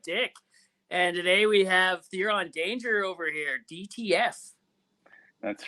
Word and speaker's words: Theron: I always take Therian as, is it Therian? Did you say Therian? I take It's Therian as like French. it's Theron. Theron.